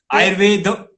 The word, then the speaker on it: Ayurveda: So we should emphasis on the last word. Ayurveda, yoga. This is the correct pronunciation.